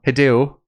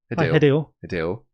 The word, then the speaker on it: Hideo: So Hideo Kojima. Hideo. That's it. Hideo. You keep pronouncing the E. Hideo.